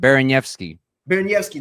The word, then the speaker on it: Baraniewski: At least this is how you said it the first time. Baraniewski. That's right. That's how you say it.